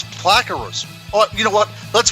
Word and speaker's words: Plakaros: But what our next guest, her name is Alissa Plakaras. No, it's not. It's Plakaros.